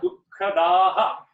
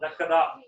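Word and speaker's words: दुःखदाः: When I say when the double visarga comes, it is very common, particularly in the North Indian languages, to not emphasize the aha. But in Sanskrit, you should. So it is sukha dukkhadaha, right? Not dakkada. Don't stop there.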